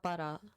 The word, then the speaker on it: Bara: It's Bara. The A is an ah sound.